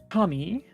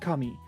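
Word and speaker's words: かみ: I also love the word kami because there are a couple different words in Japanese that are all pronounced kami. So Yeah. kami is gods, kami is paper, and kami is also hair.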